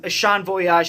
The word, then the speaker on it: Ashon Voyage: You can check me out on Instagram, Twitter, and TikTok at ASHON_VOYAGE, pronounced Ashon Voyage.